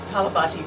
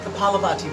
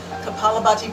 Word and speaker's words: kapalabhati: a little bit of calabach kalabati breathing kapalabhati breathing i knew i wasn't even out of a syllable kapalabhati breathing is where we